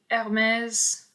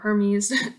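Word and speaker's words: Hermès: This is the Hermes, or Hermes, depending on how you say it, Jardin series, which is garden.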